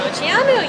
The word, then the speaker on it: Moceanu: But Dominique Moceanu, did I say it right? Moceanu, yeah.